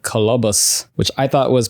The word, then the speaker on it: Kolobos: film from 1999 called colobus which I thought was pronounced colobos but it's colobus it looks like colobos but they keep saying cus cabus cabus from